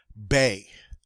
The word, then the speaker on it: B: in french of course it's not called b instead we say bay bay all right so now we have a bay okay next up as